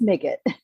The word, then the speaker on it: Migit: set the record straight how you say your last name uh today it's make it dig it okay I will try